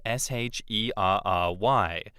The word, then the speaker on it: Sherry: whereas our girl is plain old Shery, like berry.